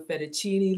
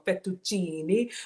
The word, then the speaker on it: fettuccine: everybody's favorite pasta shape are you a fettuccine lover or fettuccine or linguine um I'm not making fun they actually pronounce every syllable when I was in